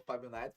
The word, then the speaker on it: Fábio Naito: Sou Fábio Naito, pronunciou corretamente, né?